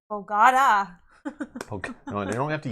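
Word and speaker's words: Bogotá: The forced pronunciation is on the A. Yeah, I guess we don't emphasize the A, like Bogota.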